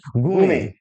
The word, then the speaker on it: gourmet: And next word is very important, गूमे, pronunciation में ध्यान दीजिएगा, गूमे, GOURMET, GOURMET, गूमे, गूमे पढ़ेंगे इसे हम, क्या कर पाएंगे, गूमे।